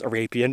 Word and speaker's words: Arapien: Um I did consult with a geologist for this, though, most only really on how to pronounce Arapeen because I had no clue and couldn't find a literature, so thanks to Sarah Z.